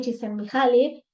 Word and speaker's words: Csikszentmihalyi: Dice, y siempre comparto esta frase de Mihaly Csikszentmihalyi, y aprendí a pronunciarlo finalmente, así que lo voy a hacer